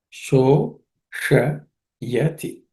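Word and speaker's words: शोषयति: This sh is cerebral sh. So just pay attention. Sho sh yati.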